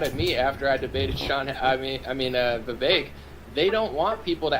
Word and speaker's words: Vivek: Vivek, it rhymes with cake and snake and, you know, all these other things.